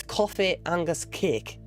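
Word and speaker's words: cofaidh agus cèic: How you pronounce that is coffee angus cake.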